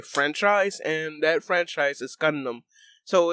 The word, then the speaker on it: Gundam: you pronounce it you it's gun and then a dam so condemn or gun